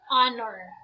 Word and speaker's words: honor: form are we have an honor so it is again a silent h let us proceed to